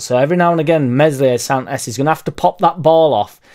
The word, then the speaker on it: Meslier: There was a lot of stuff said about Meslier, Silent S, that ball, that terrible ball into Ampadu.